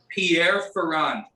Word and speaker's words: Pierre Ferrand: are lucky it's called pierre ferrand so pierre like you know the french name pier uh ferrand is f-e-r-r-a-n-d